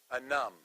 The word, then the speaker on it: Anum: Anum. How do you spell it?